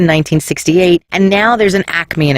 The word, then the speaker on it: Acme: chains in the area people from Philly call it a commie but it's not it's Acme two syllables no extra a halt his trial began